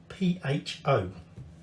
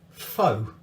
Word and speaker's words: pho: because it is spelled p-h-o and most people work out that the pH is pronounced as a fur but unfortunately a lot of people call it foe and that's not how